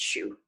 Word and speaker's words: Xu: name is Jen Xu that's spelled Xu but it's pronounced shoe which is always a fun